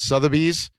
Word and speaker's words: Sotheby's: Years later, it's sold at how do I pronounce Sotheby's. it? Sotheby's.